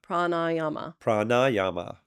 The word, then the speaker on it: pranayama: prama yeah right prama so it's supposed to be prama prama prama pranayama pranayama pranayama yes and that means